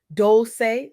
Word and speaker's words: Dolce: I'm your host Dolce, pronounced dol-say, like sweet softness whispered in French.